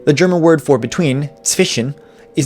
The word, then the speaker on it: zwischen: The German word for between, zwischen, is not actually pronounced zwischen, it's pronounced zwischen. The SCH in the middle isn't actually pronounced like the English SH, and a lot of